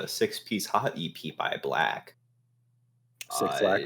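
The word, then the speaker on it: 6LACK: Six Lack, I think is the correct pronunciation. I think it's called 6 Lack.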